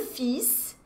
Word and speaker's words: fils: Le fils, gente, Cecília, você tá pronunciando o S, não tá pronunciando o L. Que palavra louca é essa? Olha, fils é filho, tá ok? No singular mesmo, fils. Só que é uma palavra cheia de exceções, né?